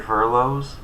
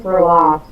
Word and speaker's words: furlough: Not do involuntary furloughs? That's not proper English. I thought it was for loss. It's pronounced furlough.